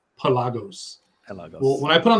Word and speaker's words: Pelagos: That's the right way to say it now, right, Sam? In the commercials, Pelagos.